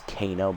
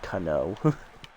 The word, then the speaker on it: Canó: swing strike oh and I like how it says Kano but it's definitely Cano pronouncing it like the Mortal Kombat character slideer away pulled by